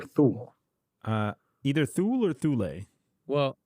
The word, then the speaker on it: Thule: The tool deck. Is it Tool or Thule?